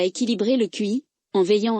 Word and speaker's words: qi: La MTC repose sur le concept de QI, prononcé Qi, la force vitale qui circule à travers des méridiens ou canaux énergétiques dans le corps.